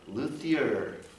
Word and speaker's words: luthier: Luthier.